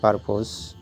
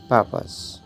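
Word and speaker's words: purpose: নিশ্চয়ই পারপোজ, পারপোজ, ভুল উচ্চারণ, কিন্তু সঠিক উচ্চারণ হচ্ছে পারপাস, পারপাস, পারপাস।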